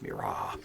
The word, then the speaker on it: Mirage: Again, that's pronounced Mirage.